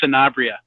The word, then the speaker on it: Sanabria: to get to know me better it's it's sanabria I really don't harp on that but your